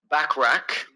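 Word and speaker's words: Bachrach: Torch and Ebon Moss backrack how do you say that back I'm saying backrack backra like ber backrack like ber backrack uh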